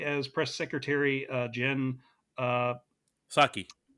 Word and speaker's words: Psaki: Had Chloe as press secretary Jen uh, Saki. Psaki. Yeah, I was blanking on the pronunciation of her name.